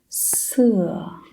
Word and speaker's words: 色: However, when you pronounce 色, it's vertical force.